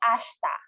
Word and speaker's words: ashita: Again, when saying ashita, you should say ashta, silent E or silent I in English.